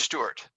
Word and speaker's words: Stuart: Tick Tock it's page Stewart underscore Stuart is spelled that way not s-t-e okay s-t-u-a-r-t uh follow her as